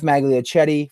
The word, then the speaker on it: Magliochetti: Andy, the Patriots fan in Massachusetts, and a very special guest, the first of the season, Geoff Magliochetti from Elite Sports New York, who covers the New York Football Jets.